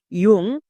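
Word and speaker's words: young: তাহলে ওয়াই ও ইউ এন জি, ইয়ং বা ইয়াং, যেটাই উচ্চারণ করতে পারো, ইয়াংও করতে পারো বা ইয়ং এরকমও করতে পারো, তাহলে দুটোই আমাদের সঠিক উচ্চারণ।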